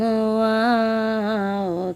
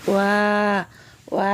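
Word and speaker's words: واو: ওয়াও উচ্চারণ কেমন হবে? ওয়াও দুই ঠোঁটের মাঝখানের ফাঁক থেকে আদায় হবে। নইলে বা অক্ষর আদায় হয়ে পড়া হারাম হয়ে যাবে। খারাপ আঁকা চিহ্নের এই জায়গায় সাবধান হও, বা অক্ষর আদায় হয়ে যেতে পারে।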